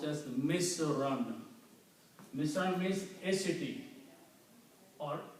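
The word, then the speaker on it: مِصْرًا: comes after the word, these two dhamma change into two fathas. When you combine the two words, so in the sentence it will be pronounced as Misran.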